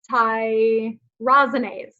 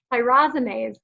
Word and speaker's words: tyrosinase: i really messed up thai rosiness thai rosiness sorry i said it wrong second time tyrosinase it's an ins i